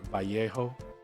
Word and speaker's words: Vallejo: my area so um Vallejo is a very popular one but or vjo as uh as it's supposed vjo as it is supposed to be pronounced because it is a Spanish company uh but it's it's